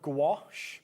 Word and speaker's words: gouache: I I'm big fan of gouache. Yeah. Not just because it rhymes with my name, although if I do ever bring out my own, I'm calling it gouache.